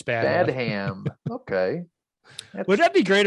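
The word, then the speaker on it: Badham: right i think it's bad ham okay would that be great if that was your name and that was your thing to always correct people bad hands it's actually bad ham pronounced like batman but bad hand i'm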